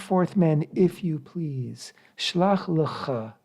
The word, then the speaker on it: Shlach lecha: Shlach lecha is how it's said in Hebrew, which means literally send to yourself or send for yourself.